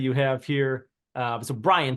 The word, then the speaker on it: Bryan: have here uh so Brian Texas not I pronounce it Bryant uh but it's Brian Texas the one next to